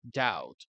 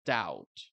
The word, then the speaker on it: doubt: doubt el verbo dudar doubt Por cierto esa B no se dice esa B de bueno no se dice doubt s to doubt tiene